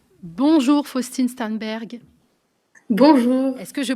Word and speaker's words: Sternberg: bonjour Faustine stanberg bonjour Est-ce que je prononce bien votre nom de famille pour commencer